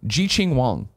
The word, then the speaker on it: Jiqing Wang: The way to pronounce the Twinfinite name from yesterday is Jiqing Wang.